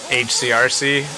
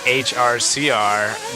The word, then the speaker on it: HRCR: there in the background sometimes I say hcrc but it's hrcr the host of the